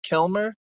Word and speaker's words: Kilmer: So Kil, am I pronouncing it right? Kilmer? just like Awesome. Val Kilmer, but not that Awesome.